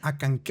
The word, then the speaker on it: Acanceh: Es como Acanqué. Se escribe Acancé, Ok. Acanceh, Ok. pero la última parte que es CEH, se pronuncia que, como Q.